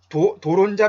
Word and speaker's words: 돌은자: 그 다음에 드론자 마케팅은 이게 도론자 마케팅이고요. 돌은자를 소리나는 대로 발음한 거예요.